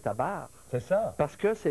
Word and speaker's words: tabernacle: Ce qui est prononcé, là, c'est pas le E dans tabernacle, c'est pas ça que les gens disent. Non, mais c'est surtout, c'est pas taber, c'est tabar.